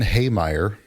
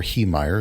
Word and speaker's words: Heemeyer: Marvin Heemeyer, or Heemeyer, it depends on how you want to pronounce it, was a man born in 1951 on a dairy farm in South Dakota.